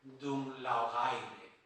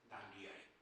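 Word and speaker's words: Dún Laoghaire: afueras de Dublín llamado, lo leo tal como se escribe, Dunlaogaire. Llamo Ga porque es GH. Yo sé inglés, pero no sé gaélico. Digo, ¿cómo se pronunciará esto? Eso tengo que explicar a mis alumnos. Llamé a Antonio Rivero y Antonio Rivero me dice, eso se dice Danliari.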